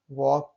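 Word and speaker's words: walk: Rule number 3 देखते हैं, कुछ शब्दों में के से पहले एल आता है तो एल साइलेंट होता है।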